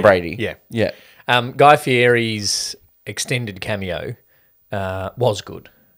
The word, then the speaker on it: Fieri: annoying was of how how they were pronouncing Fieri it wasn't Guy Fieri it was well stuff Yeti they're also not from